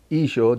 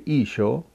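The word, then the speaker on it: ܝܫܘܥ: you would say if you said to him jesus he wouldn't respond to you because that's not how his name sounds like isho doesn't sound like jesus so what you have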